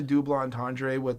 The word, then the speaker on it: double entendre: And I like the double entendre and the play on word with double entendre. Yes, don't that's you how. French? That's Chris, it's double entendre. I've been saying it wrong for weeks.